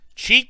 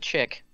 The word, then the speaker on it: chic: Geek chick? Cheek? Geek chic? Chic is how you say that. Oh. Let's go with chick.